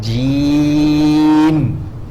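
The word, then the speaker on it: جيم: Then when we pronounce jim, right, we prolong the ya.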